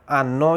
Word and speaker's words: hanno: तो ये यहाँ पे जो यूज़ हुआ है वो है आनो यानी रखना, पास रखना। इसमें H यूज़ हुआ है, जैसे कि H इसमें साइलेंट है।